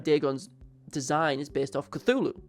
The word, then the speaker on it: Cthulhu: And at the same time Deeon's design is based off Cthulhu or Clulu if you want to pronounce it like how it's supposed to be cuz you're supposed to cough it out.